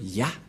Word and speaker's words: Yah: Cette forme se prononce Yah.